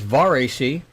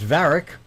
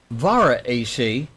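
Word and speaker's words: VarAC: There's VAR AC, what I'm saying. There is VARIC, kind of Eastern European with a K at the end, or VARA AC, but there's no double A, so don't do that.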